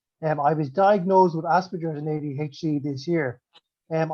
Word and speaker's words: Asperger's: use of of um asperger's when i use a hard g i know a lot of people call it aspergers but i call it aspergers because that's what the germans do and asperger was from that area so um yeah i